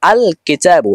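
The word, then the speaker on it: الكتاب: স্পষ্ট আলাদা উচ্চারিত হবে যেমন আল কিতাবু এখানে লাম হরফটি স্পষ্ট রয়েছে এবং আলাদা উচ্চারিত হয়েছে আর 13 টা হরফ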